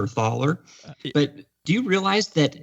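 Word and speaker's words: Thaler: uh you're I guess we're pronouncing his name Thaylor or Ther. But do you realize that his name is basically pron he's scand it's a Scandinavian name. It's pronounced taller, right?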